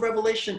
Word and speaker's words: Revelation: all throughout this series i never say revelations because there was only one revelation of john every single teacher i have heard or read on this subject matter all make this point apparently there is a pandemic of getting the book's name wrong apparently revelations in english entered in somewhere along the way and we all call it revelations it's just revelation so now that we've